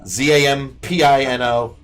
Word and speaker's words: Zampino: Zampino. It's fun because it rhymes with Gambino and Bambino.